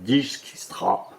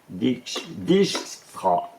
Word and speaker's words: Dijkstra: Et du coup, Philippa, qui est donc avec un acolyte qui s'appelle Dijkstra, super sympa à prononcer aussi en français, Dijkstra.